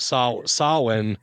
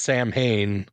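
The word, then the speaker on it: Samhain: comes from the word or the tradition of sawin or how a lot of people mispronounce it as Sam Hayne I believe even in Halloween like two I think it was is when you hear about that.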